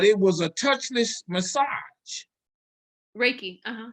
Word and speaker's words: Reiki: Um, I had a procedure done to me that was it's called Rinky. I guess I'm pronouncing it right, but it was a touchless massage. Reiki. Uhhuh. Reiki.